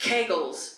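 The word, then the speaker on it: Kegels: that I do pelvic floor exercises which is pronounced kegles sir.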